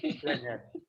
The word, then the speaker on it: Blenheim: Blenheim, this is German. Blenheim, it's a German name. You pronounce it Blenheim.